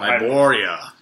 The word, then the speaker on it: Hyboria: Oh, Hyboria. The Hyborian Age of Yes, Conan. this is a map of Hyboria. So basically, I thought it was Sumerian. well, that's a country or a region of Hyboria.